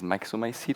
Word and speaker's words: myxomycete: Its little scientific name is myxomycete, I guess that's the way you would pronounce it.